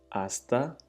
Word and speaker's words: hasta: Hasta mañana. Hasta mañana. Hasta means until. Literally until, till. So hasta, NH is silent.